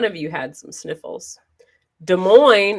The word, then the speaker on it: Des Moines: you had some sniffles des moines is pronounced like the coin i think that eric is from des moines just a side note you know des moines neither of the two s's taco john and papa